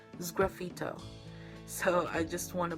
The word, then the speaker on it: sgraffito: I think I mispronounced it to graffito, but it's sgraffito.